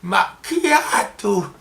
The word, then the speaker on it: macchiato: qui m'a dit que ça se disait pas macchiato, mais je le savais, hein, c'était pour le fun que je disais macchiato. Donc, macchiato, à la prononciation italienne.